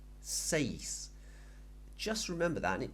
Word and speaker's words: seis: we can remember that the pronunciation of e in Spanish is like an a Y sound remember I told you